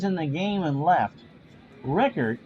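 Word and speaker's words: Richert: Rickert, although it's spelt Richard, has a save and is 0-1.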